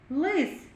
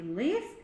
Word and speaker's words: лис: Ми чуємо у слові лис так у слові лис перший звук л він вимовляється і звучить твердо л а у слові ліс